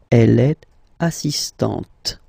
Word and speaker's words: assistante: So don't pronounce the final T here, but for the feminine form, elle est assistante.